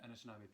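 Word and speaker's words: Anishinaabewaki: Haundenosaunee and Anishinabewaki peoples.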